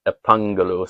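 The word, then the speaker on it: ἐπαγγέλλω: Now, what's funny about Greek is when they put the 2 G's next to each other, it instead of making a hard G sound, it makes a NG sound. So epangelu.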